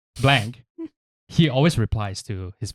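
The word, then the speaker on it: Blanke: Because like Blanky, or Blank. Do you say Blank or It's Blanky?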